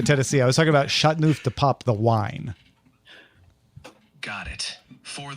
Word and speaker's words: Châteauneuf-du-Pape: I was talking about Châteauneuf-du-Pape, the wine. Got it. For the wine Châteauneuf-du-Pape, it's pronounced Châteauneuf-du-Pape.